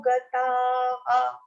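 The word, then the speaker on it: गतः: Now here, if the consonant is ending in an akar, we have to pronounce ha. Visarga will be pronounced as ha. So it will be gataha. Ta also should be properly pronounced with an akar, and the visarga also should be properly pronounced with a ha.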